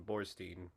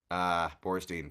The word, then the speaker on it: Borstein: And Sorry, Matt, but I'm gonna have to put you on my list because there is no N in Borstein. Bornstein, fuck.